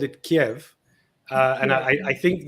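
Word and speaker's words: Kyiv: of that wonderful city so kiev kiev is the russian pronunciation and it's the traditional transliteration of the cyrillic way of writing uh the city in russian and uh kiev is the pronunciation of the ukrainian way of of saying the name and you know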